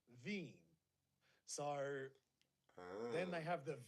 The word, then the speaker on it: Wien: the name of places Vienna is actually w-i-e-n pronounced veeam sorry then they have